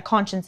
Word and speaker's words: Conscience: And then I'm going to be using the font Conscience, or yeah, Conscience is how it's pronounced.